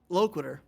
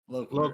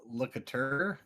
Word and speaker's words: Loquitur: Loquitur. Loquitur. Okay. Because I was thinking locatur.